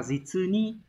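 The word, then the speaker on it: 実に: Từ số 3 đọc là Jitsuni.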